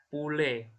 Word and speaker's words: poulet: Terus ada poulet. Poulet. Bonjour. Poulet. Poulet. U ya. Jadi bukan O, bukan bonjour, jo ya, nggak O gitu bacanya. Atau poulet ya, atau poulet. Jadi U jelas. Bonjour sama poulet. Itu OU dan U akson.